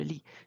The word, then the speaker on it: lis: You never pronounce the final consonant, je lis.